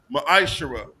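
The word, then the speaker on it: מעשר: verses 8 through 10 means 10th in the Hebrew it's pronounced maishara ten percent of every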